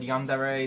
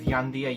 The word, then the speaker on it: yandere: difficulty pronouncing the word yandere the most common pronunciation mispronunciation is yandia yes gandhiadev leading many people to refer to yandia sim as yandia sim um wait yamdia7 is